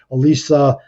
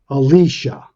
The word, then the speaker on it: Alicia: this lady up um Elisa um Hammond Alicia Alicia like Alicia Keys I keep saying her